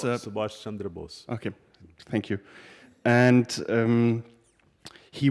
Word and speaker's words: Subhas Chandra Bose: And one of these heroes was, hopefully I pronounced him correctly, Subhas Chandra Bose. He was Subhash Chandra Bose.